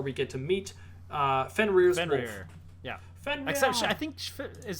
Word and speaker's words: Fenrir: um yeah sorry yeah just call him fenware fenrir although it's spelt fenris but fenrir is how you pronounce it i'm wondering um could